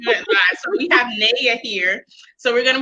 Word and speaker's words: Neea: We have Neea. Did I pronounce that right? It's Neea, but that's fine.